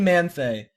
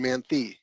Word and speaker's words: Manthei: very special guest we have with us Kevin manthe it did I pronounce that crappy close Kevin Manthey okay my bad you might know him from